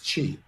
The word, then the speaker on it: qi: concept of wellness called chi it's spelled q i but pronounced chi and we know that